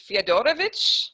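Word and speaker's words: Fiedorowicz: to gloat about is playing feodorovich that's like that that is the Polish way to say his name and because I've been studying polish so long I can no longer say it the American Way so yeah i mean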